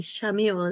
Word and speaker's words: Chamuel: And I'm sure some of you pronounce it differently. Shamuel is how I say it.